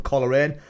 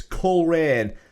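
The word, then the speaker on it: Coleraine: colerain i'm i've been told that's how you pronounce it i've been going for coloring but it's colerain so unless i've been duped that's what they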